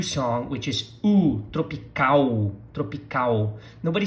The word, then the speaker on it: tropical: things for you to practice here regarding your pronunciation. We're going to start with the title of the song, which is Tropical Country, meaning country, país. Repeat, país. Tropical, tropical, tropical.